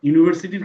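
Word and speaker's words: university: ইউনিভার্সিটি ক্ষেত্রে আমরা দেখি যে সাউন্ডটা ইউনিভার্সিটি, এখানে ইউ আছে, এই যে ইউ আছে, ইউটা তো ভাওয়েল, এই জন্য অ্যান ইউনিভার্সিটি দিয়ে দিই। এটা কিন্তু অ্যান ইউনিভার্সিটি হবে না, এটা হবে এ ইউনিভার্সিটি, কারণ সাউন্ডটা ভাওয়েল সাউন্ড না, ঠিক আছে।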